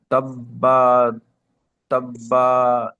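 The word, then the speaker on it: تبت: তাব্বা তাব্বা ইয়া তাব্বা না, তাব্বাত। তাব্বাত।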